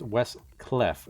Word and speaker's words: West Cleft: I think it's West Cleft. It's C-L-E-F-T. West. Cleft. Okay. It's the reverse thing of a cliff.